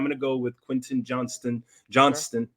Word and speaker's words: Johnston: go with Quentin Johnston Johnston let's say it right quick quick Johnston yeah John's to be killing me bro I see the T and I struggle but uh big play